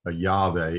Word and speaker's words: Yahweh: of God over here, Yahweh is the way I'm convinced that it should be pronounced.